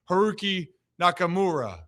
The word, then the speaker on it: Haruki Nakamura: Let's bring on Herooqi Nakamura. Did I pronounce that right, Heroo?